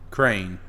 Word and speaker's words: crayon: A crayon is southern. Really? Crayon is what it's saying. Crayon. Crane. Yeah, crayon. Closer to crane. And then the rest, like the kind of the west and kind of more northern, say crayon, like in dawn.